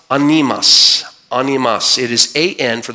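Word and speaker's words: ἄνεμος: The word wind is the word, it's pronounced animas.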